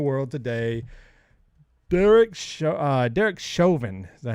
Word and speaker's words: Chauvin: news in the world today derek uh derek chauvin is that how you pronounce it derek chauvin i believe that's how you say it i